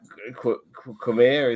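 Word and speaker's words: Qimir: And obviously, uh, Khmer, is that how you say his name?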